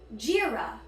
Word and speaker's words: Jira: Next up we have Jira. Jira. 2 syllables. I will jeer ya, you one in the back, because I'm louder than you.